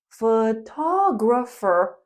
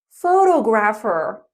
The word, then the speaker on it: photographer: The person is photographer and the word stress is important. We say photographer, not photographer.